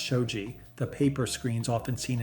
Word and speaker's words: shoji: Traditional Japanese homes solved this with sliding shoji panels, pronounced shoji, the paper screens often seen in pictures of old Japanese rooms.